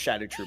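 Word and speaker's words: Scadutree: But if instead of shadow tree, it it's pronounced shadow tree by the way.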